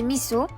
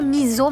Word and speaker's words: miso: Et ça c'est des miso. Vous dites toujours miso, mais c'est miso.